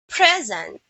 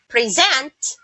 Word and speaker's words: present: word here's one rule most two-syllable nouns are stressed on the first syllable so if there are two syllable nouns the first syllable is being stressed and most two-syllable verbs are stressed on the second syllable just that's just like the word present it's a noun present is a verb here's another example the